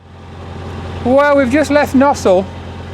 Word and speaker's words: Gnossal: Well, we've just left Gnossal, Gnossal it's pronounced, isn't it?